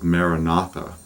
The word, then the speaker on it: Maranatha: And another one, a very old one within the Christian tradition, is Maranatha, which means Christ cometh, our Lord cometh.